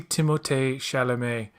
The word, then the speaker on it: Timothée Chalamet: I, I want to see Timothée Chalamet do more fighting. That's how you actually pronounce. That's actually how you pronounce his name. Believe it or not, Yeah, Timothée Chalamet.